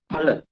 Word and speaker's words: phala: Phala. Right? P-H-A, not Fa, Pa.